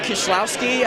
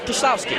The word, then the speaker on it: Kieslowski: Yeah, it's pronounced Kieslowski, I guess. Yeah, Kieslowski.